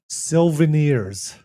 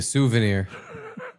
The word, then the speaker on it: souvenir: Steve used to call them Silvenirs. Yep. Silvenirs. What are those? Like a souvenir. Oh, you said it wrong?